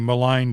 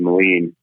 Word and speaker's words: Moline: construction right yeah yeah the pronunciation is the Moline I apologize yeah yeah no problem uh we kind of there's a bit of an intention with that name you know similar to Scottish Distillery where you know it might you might not get the pronunciation right off the bat so uh there is